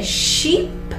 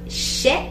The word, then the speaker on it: sheep: Et ici, avec mouton, en anglais, c'est sheep. Ce n'est pas sheep. Il faut prononcer le double E. Sheep serait avec un E. Sheep serait avec deux.